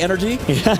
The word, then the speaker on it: NRG: Apparently, I believe that is actually the proper pronunciation of the organization. It's supposed to be energy, but I mean, you give us an acronym NRG. We're going to say NRG over and over again, guys.